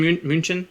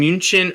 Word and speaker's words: München: Is it in München or Munich? It's the same thing. Are those two different? It's the same city. It's just like the München is the German spelling and pronunciation.